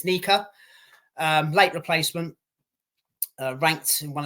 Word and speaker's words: Nyika: They would pronounce his name as Nyika.